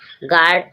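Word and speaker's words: guard: आप देखें you silent गार्ड गार्ड means रक्षक जी यू आर डी गार्ड गार्ड means रक्षक जी के जब बाद यू आया है यू साइलेंट रहेगा गार्ड गडी गार्टी मींस गडी यहां पर जी के बाद यू आया।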